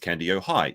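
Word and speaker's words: Kandiyohi: commenter has told me Candy-O high is pronounced Candy-O high. If you have trouble remembering it, just remember you would have to be high to believe anything Nick says.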